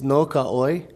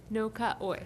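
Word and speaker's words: No Ka ʻOi: Could you say it again to make sure we're all pronouncing it correctly? It's No Ka'oi. No Ka'oi.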